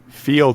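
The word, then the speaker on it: Feeld: Field is spelled F-E-E-L-D, like feel, like sort of like...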